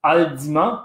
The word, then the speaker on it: Haldimand: s'appelait alors de monde mais qui en fait se prononcent haldimand parce que c'était un